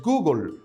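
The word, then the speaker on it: googol: existe un número que se escribe gogol y su pronunciación en el inglés es google nombre acuñado por el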